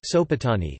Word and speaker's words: Sopoćani: The Sopoćani Monastery (Serbian Cyrillic: Sopoćani, pronounced Sopoćani), an endowment of King Stefan Uroš I of